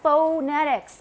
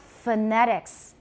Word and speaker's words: phonetics: is phonetics it's not phonetics because is the first syllable stressed phonetics no many unstressed syllables in english are pronounced with an upside down e which is called a schwa it's also called a